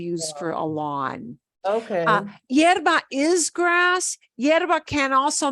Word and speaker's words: hierba: fertilizer mi hibera. Otra vez. There's different words for grass. Hibera. Oh, hierba.